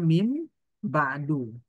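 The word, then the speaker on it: مِن بَعْدُ: Makanya dia dibacanya mim ba'du. Nah, dia dibaca doma itu untuk menandakan bahwa ada mudhof ilaihnya yang dibuang di situ.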